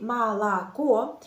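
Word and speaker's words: молоко: phonétiques qui explique que si la lettre O n'est pas accentuée dans un mois la lettre O se prononce comme a par exemple si je dis malako ah vous pouvez voir qu'il y a trois oh malako mais je pense au comme o juste dans la dernière syllabe la lettre finale je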